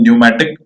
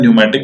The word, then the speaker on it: pneumatic: हैं, दूसरा होता है न्यूमैटिक। न्यूमैटिक की स्पेलिंग निमोनिया की तरह जो है पी से स्टार्ट होती है, PNEUMATIC।